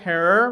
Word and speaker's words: Herer: the other thing that jack herrer rhymes with terror discovers is this film